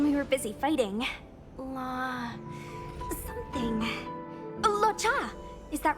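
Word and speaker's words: Luocha: Locha! Is that right? I remember it. Let's go. Stay close, you two. Cloud Knight's Fu Xuan will guarantee your safety. Agora eu sei como pronunciar o nome dele. Wacha.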